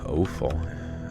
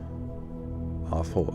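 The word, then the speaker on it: offal: Owful. I've never heard of that word before. Awful. Ow. Oh, it is pronounced like awful.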